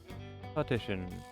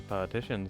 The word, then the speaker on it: partition: Partition. There's a partition set up by the doorway, probably to obscure the view from visitors. Hey, Iva. It's pronounced partition and not partition.